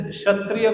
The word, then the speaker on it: क्षत्रिय: खेत, जैसे क्षत्रिय को कई लोग खत्रिय बोलते हैं ना, वो प्रोनाउंसिएशन अपभ्रंश की वजह से।